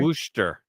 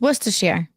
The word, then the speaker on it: Worcestershire: Worcester. No, Worcestershire. There's no sheer in it. We've already covered how to say it. It's Worcestershire.